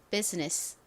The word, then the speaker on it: business: 하는데요 여기서는지 소리로 쓰였어요 S 다음에 오는 아는 소리가 나지 않습니다 무음이에요 그래서이 sga 즈로 발음이 됩니다 즈가 됐고요 그다음에는 덩어리로 소리를 기억해 주시면 편리합니다 니스 이렇게 기억을 해 주시면 돼요 정확히는 사실이 발음과 어 발음의 사이에 애매한 발음이납니다 스 이렇게요 그런데 뭐 스나 스나